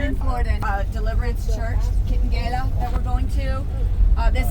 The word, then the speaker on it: Kitengela: Say it like Spanish.